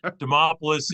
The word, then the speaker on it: Demopoulos: so you know it's demopoulos is is tough to say I always tell people it rhymes with Acropolis yeah yeah thanks for